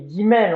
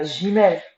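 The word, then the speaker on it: גימל: Comment, parce que on dit guimel, on dit pas gimel.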